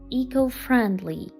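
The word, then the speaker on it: eco-friendly: Зверніть увагу на вимову першої частини цього слова. Echo. Ecfriendly. Ecorriendly. Ecofriendly.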